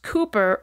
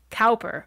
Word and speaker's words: Cowper: Poets of his time his name is spelled c-o-w-p-e-r and pronounced Cooper rather than as I thought when I started writing this episode calper he was born in